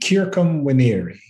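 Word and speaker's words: circumveniri: surrounded by you and the word for surrounded kirkum winieri and so as the commentaries had already figured out it has to be pronounced instead of a cure he's trying to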